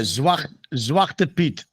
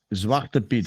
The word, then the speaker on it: Zwarte Piet: Yeah, Zwarte Piet. Zwarte Piet.